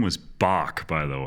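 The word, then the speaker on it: Boq: Oh, that guy's name was Bach, by the way. Bach, yeah.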